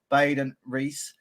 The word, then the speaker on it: Baden Riess: this is the actual Lord Baden Reese. Is that how you pronounce your name? Yes, yeah.